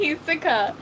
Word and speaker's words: Hisoka: Hisoka. You just said Hiso. He's not just Hiso, he's Hisoka. You're missing a few syllables.